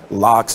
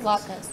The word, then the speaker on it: latkes: You know, you get an option of like a salad, potato, lox. That's how you pronounce it, right? Latkes.